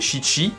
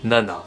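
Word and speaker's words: 七: Le chiffre 7, au lieu de le prononcer shichi, homophone de terne mort, on va le prononcer nana.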